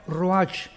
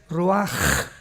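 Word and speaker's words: רוח: h, que se pronuncia roach, pero en el hebreo es roaj. La ch en el hebreo es como J.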